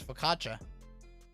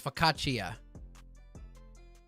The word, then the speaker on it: focaccia: need the history of focaccia i just literally want to know how to say it um italian you have to pronounce each vowel so it's focaccia oh here it is